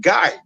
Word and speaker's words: Guy: so that they could so that they can pronoun it guy just like any guy yeah so now my